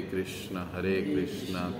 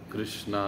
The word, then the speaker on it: कृष्ण: जप रहे हैं, हरे कृष्ण कृष्ण कृष्ण हरे हरे, हरे राम राम राम हरे हरे। कृष्णा नहीं कृष्ण, रामा नहीं राम, हरे हरे, पूरे इन ये जो उच्चारण है वो सही से करना, एक एक शब्द को